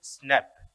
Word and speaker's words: SNP: call single nucleotide polymorphism which is abbreviated as nb and pronounced snap which is a dna